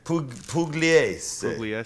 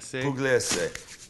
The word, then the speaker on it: Pugliese: Pugliese. Pugliese.